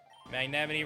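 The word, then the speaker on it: Magnemite: Magnemity rhymes with Yosemite.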